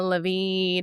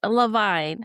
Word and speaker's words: Lavine: We're going to go ahead and invite our guest Lavine. Hello. Yes. Hi. Just to remind you, Levine.